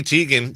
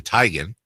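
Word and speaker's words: Teigen: mispronounce their names and recently Chrissy Teegan said the pronunciation she grew up with is actually tigan Ariana Grande same thing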